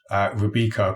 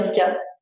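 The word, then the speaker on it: Rubika: Is that the right pronunciation? Sorry? Rebecca College. Yes, Rebecca Super for Game, actually. The school changed names when I was there. So yeah, it was Rebecca.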